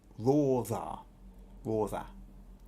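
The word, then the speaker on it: Radha: Now she's told me how to pronounce this. Rotha.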